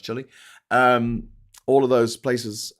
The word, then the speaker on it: Chile: in uh in um Chile which looks like Chiel but it's pronounced Chile.